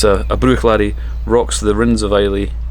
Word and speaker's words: Bruichladdich: Also, one of the other ones that I say incorrectly is Bruichladdich. You don't pronounce the at the end, apparently. It's Bruichladi.